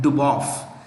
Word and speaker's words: Dubov: When a Slavic name, S-L-A-V-I-C, Slavic name ends with V, it is usually pronounced with an F.